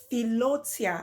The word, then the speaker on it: philautia: Then the fourth kind of love is philotia. I've never seen this one before. It's spelled Philautia. Philotia, and it's called self-love.